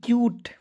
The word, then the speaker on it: cute: चलिए उसके बाद देखिए CUTE क्यूट, क्या पढ़ेंगे, बहुत लोग कूट पढ़ लेता है, नहीं दोस्तों इस तरह पढ़ना जो है बिल्कुल गलत तरीका है, ठीक है।